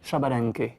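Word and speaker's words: Xbalanque: là voilà alors X balank et ça se prononce chabalen Shabal Shabal et c'est le dieu jaguarid Jaguar of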